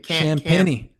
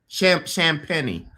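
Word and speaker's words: Champagnie: Champagny. Champagny.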